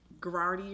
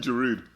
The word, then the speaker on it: Giroud: I just don't know how to pronounce it. Okay, go and guess. Go. It starts with a G. Okay. Gerardi or You mean Giroud?